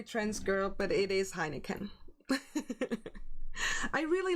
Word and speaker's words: Heineken: I'm sorry, trans girl, but it is Heineken.